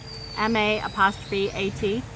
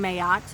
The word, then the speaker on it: Ma'at: Some people say Mat, some people say Mayat, some people say Ma'at. How does she like it pronounced? For me, it has become Mayat, and that's how I pronounce it.